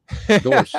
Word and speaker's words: Dorsch: No one can pronounce Dorsch, so I'm not going to use that. He said Josh says it right. Dorsch, yeah. He puts the oomph in it. He puts the oomph.